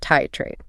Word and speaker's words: titrate: We use the word titrate, pronounced tie trade.